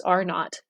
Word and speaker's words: R naught: are not which is r with a little subscript zero that's how it's pronounced as R naught is a it's a